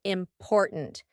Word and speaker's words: important: to use this word important because in the middle we have that gladle t import and then at the end we have a stopped